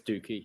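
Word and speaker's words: Douki: this name because I always say dookie it's dookie yeah it's pretty much what this match was a dookie I'm sorry dookie but uh El Desperado versus dookie and it went for like five minutes or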